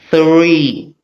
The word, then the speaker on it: three: This is known as the voiceless th. That's that particular theta symbol in Greek represents the voiceless th sound. T h r e. It's pronounced as three.